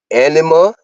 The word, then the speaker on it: anima: hide from themselves and others okay now the pronunciation of these I need you to work with me okay you have anima a n i m a SL animus okay